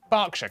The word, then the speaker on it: Berkshire: ER is pronounced R. Berkshire, Clerkenwell, Hertfordshire. But before you get too